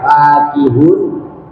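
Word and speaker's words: فاكهون: apaan keduanya tatkala dibaca fa panjang fakihun dan dibaca pendek fakihun ya. Dan adapun keduanya lafaz fakihun dan lafaz fakihun lugotani. Yaitu ada dua lugha, ada dua bacaan.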